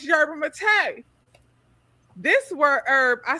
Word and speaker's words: yerba mate: So I said yerba mate. I always said yerba mate. I found out that it's yerba mate.